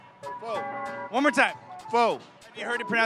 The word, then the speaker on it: pho: So how do you say this word correctly, once and for all? Pho? Thank you. People keep saying po or fo. No, yeah, that's totally wrong.